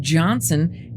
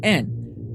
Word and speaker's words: Johnston: You can't hear it, but Johnson is actually spelled with a T, so Johnston. But for some reason, the Scottish don't pronounce the T.